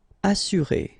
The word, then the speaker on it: assurer: Assurer, all right, you get two vowels here, but then double S, so it should be really strong. S, assurer.